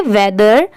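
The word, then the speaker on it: weather: जैसे हम टी एच ई को द पढ़ते हैं। बट लास्ट में आर लग गया तो दर। मतलब लास्ट में आर के वजह से र की साउंड आएगी। ठीक है? इसलिए इसे हम पढ़ेंगे वेदर।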